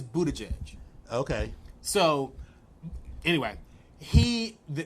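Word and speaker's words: Buttigieg: Pete Budaj edge being because that is how you say Budaj edge yes it was booty so he said he has watched him pronounce it he says Buddha judge okay so anyway he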